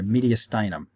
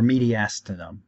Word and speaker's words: mediastinum: that you see there the mediastinum or mediastinum you're gonna find people pronounce medical words in slightly different ways this one is